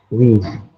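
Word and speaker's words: ㅟ: Dibaca wi. Hah? Wi. Wi, oke betul ya. Ini ada vokal U ya, vokal U di awal ditambah dengan vokal I, maka kita membacanya adalah wi, teman-teman.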